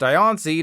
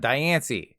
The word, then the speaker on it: Diancie: Yes, it's pronounced Diancie, not Diancie.